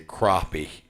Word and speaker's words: crappie: they they think that it's uh how it's pronounced. It's actually crappie is how it's correctly pronounced.